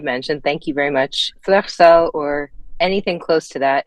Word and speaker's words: Fleur Seule: Fleur Seule, or anything close to that, is how you say the band name.